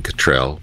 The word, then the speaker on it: Cottrell: us up to speed well stephen cottrell or stephen cottrell depending if you're american or english how you pronounce his name and justin welby put